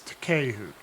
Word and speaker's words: Takehu: Okay, well I need to adjust my pronunciation. It's Takehu. Takehu, got it.